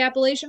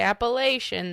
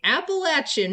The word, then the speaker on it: Appalachian: southern thing and say if you say appalation then I'm going to throw an Apple at you throw an Apple at